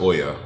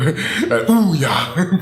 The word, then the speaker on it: Ouya: Don't think about the Ouya and I know it's pronounced Oya or I think but I call I I call it the Ouya. My girlfriend was laughing at me earlier for Oooya but I mean it's